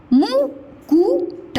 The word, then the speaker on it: मुकुट: तीसरा देखिए, गुड़ी या गुड़िया मुकुट, मुकुट मुकुट, इसमें उच्चारण समय कम लग रहा है ना, मुकुट मुकुट।